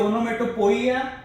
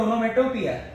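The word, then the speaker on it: onomatopoeia: फिर से इसका प्रोनाउंसिएशन, कुछ लोग बोलते हैं ओनोमेटोपोइया, कुछ लोग बोलते हैं ओनोमेटोपिया।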